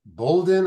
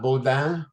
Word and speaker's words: Bouldin: We are especially blessed this evening to have with us Britney Bouldin. I think that's pronounced That's correct. right. Yep, you got it. Not Bouldin.